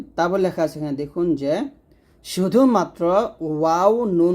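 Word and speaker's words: ظاء: লাগিয়ে পাতলা করে জাল আর যা উচ্চারণ করতে হবে জিহ্বার আগা সামনে নিচে দুই দাঁতের মাঝে লাগিয়ে যা এরকম তার মানে এখানে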